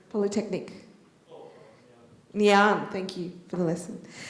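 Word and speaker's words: Ngee Ann: NG and Polytechnic. Nyan, thank you for the lesson.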